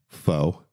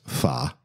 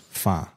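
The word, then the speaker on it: phở: rendition of what's called most people called it Fox but it's fa uh the Vietnamese dish that is just packed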